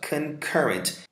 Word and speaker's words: concurrent: Olha só, concurrent. Esse pontinho aqui indica que essa sílaba é mais forte.